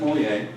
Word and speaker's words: Mulier: My name is Mulier. The last name has that French pronunciation, and you can call me Professor Mulier.